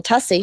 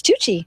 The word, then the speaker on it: Tucci: me she's like it's Tucci all right we've Sol the name pronunciation things Ramer and tussy that's the way it works my name rhymes with fussy because I am I